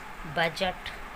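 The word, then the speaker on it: budget: Silent रहता है, और डी के बाद जब भी जी आता है तो जी से पहले जो डी है वो साइलेंट हो जाता है. For example Baij, ब्रिज, बजट.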